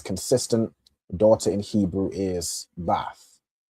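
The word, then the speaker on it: בַּת: You'll say ban or bath of whatever your tribe is, right?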